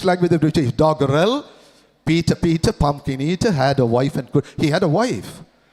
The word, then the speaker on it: Peter: Peter, no r, or is silent, or is Peter.